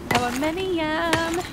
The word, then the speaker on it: aluminium: It'll be renamed to aluminum. Oh, right. Okay, then. That makes more sense. Wait, you said aluminum? NATO standard pronunciation for our American friends. Kansas. Aluminium.